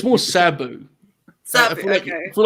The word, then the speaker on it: Sabu: It must be I think I'm putting emphasis on the U and not the A.